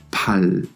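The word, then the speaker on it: 팔: Cuando piu está delante y en medio de palabra, se pronunciará fuerte exhalando aire. Pal, pal, que hemos dicho que significa brazo.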